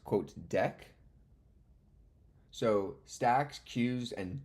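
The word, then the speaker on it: deque: thing it's pronounced quote deck so Stacks cues and decks like a deck of cards not DQ's it's not DQ's it's decks okay Angela thanks so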